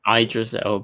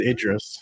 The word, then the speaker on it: Idris: as in past tense did you just say i dressed because it's idris it's the american pronunciation um it's it's the uh it's the tasmanian pronunciation uh well christian bale